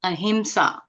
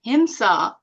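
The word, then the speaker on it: ahimsa: to pronounce the word a himsa so if you didn't pronounce it correctly and you said Hima it actually means violence himsa is violence a himsa is nonviolence and nonviolence is the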